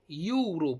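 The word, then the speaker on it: Europe: येईल आणि मी जर जर म्हणलं युरोप युरोप युरोप यु इथं उच्चार काय आला?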